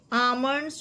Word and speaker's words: almonds: Next, phosphoric element is profusely found in option A, almonds, figs, grapes, dates, apples and oranges. ये almonds का L silent है, almond नहीं, almonds.